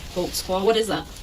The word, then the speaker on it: Holtzclaw: there cuz I don't even know how to spell it how do you say your name Daniel Holtz claw Holtz claw what is that it's a German can you